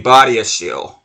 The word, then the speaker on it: Badiashile: And then our one center back, I kept on being inconsistent with his pronunciation of his name. And it's actually supposed to be Badiashile.